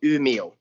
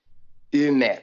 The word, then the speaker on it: Umeå: because the city where we live is called Umeå. Umeå, and back in the days it's spelled U-M-E.